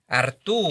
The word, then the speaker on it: Arturo: But nevertheless, so you pronounced my first name correct though. It's Arturo. Arturo. You know, it's Italian Spanish name.